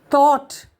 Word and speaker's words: thought: Thought, awe.